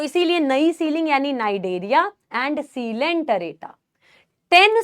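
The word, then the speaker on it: Cnidaria: porous यानी Porifera नई ceiling नई से आ गया नाइडेरिया सी साइलेंट होता है सी डेथ साइलेंट है नाइडे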